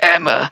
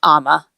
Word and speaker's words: Emma: Excuse me, Emma. I read online that you sold this stuff. Do you carry this one? Just in case he has to say it again, I think it's pronounced Amma.